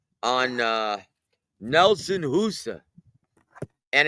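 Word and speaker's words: Hysa: Now, now like while you were gone, we did some scouting on um on uh Nelson Husa and it's spelled H YSA and it's pronounced in Albania.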